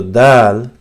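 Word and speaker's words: دال: So dal is the tip of the tongue, and you touch it softly with the front teeth where they join with the gums and the upper part of this, the initial upper part of this hard palate, which says here, this part, this exact point. So you say dal, dal, the, dal, right?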